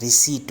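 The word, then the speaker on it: receipt: ठीक है, अक्सर जो लोग पढ़ते हैं इसको रिसिप्ट पढ़ते हैं, तो ये रिसिप्ट नहीं होगी, ये रिसीट होगी, रिसीट, रिसीट।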